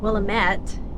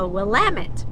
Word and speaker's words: Willamette: pronounce it right cuz I was saying willamet and uh any or person from Oregon organian do you speak any English English no has uh corrected me it's a wamit valley but anyway so